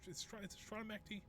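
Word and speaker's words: Strana Mechty: Stronamecti, which is hilarious. If you don't know what Stronamecti is is where the clans are. Kind of where the big it's Stronamecti. That's how it's pronounced.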